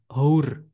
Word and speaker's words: hour: Nah, tulisannya hour itu ada hanya hour. Nah, tapi karena bacanya hour, awalannya A, maka pakainya an hour, 1 jam.